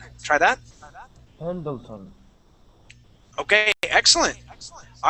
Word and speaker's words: Pendleton: Okay, but I want to work on pronouncing that D-L-E. So we're going to say Pendleton. Try that. Pendleton.